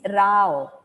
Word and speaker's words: Row: can you stop it it's rao not ro the name is pronounced